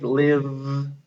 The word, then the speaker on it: live: So if we have a word like live, where we hear V at the end, we put the silent E after it.